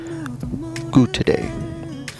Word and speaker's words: Goutoday: This is actually by a seller of the name Goutoday. Now, that's spelled G-O-U-T-O-D-A-Y.